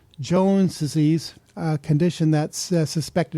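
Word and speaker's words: Johne's: For a condition called Jones disease, a condition that's suspected of causing Crohn's disease. Jones disease is spelled Johne''S.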